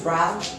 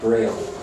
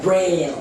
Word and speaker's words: Braille: You know, Louis Brown. Louis Brown, the person who made the Brown alphabet for blind people to read. Oh, Braille. Yeah, Braille. Yeah. Okay, that's how we pronounce it.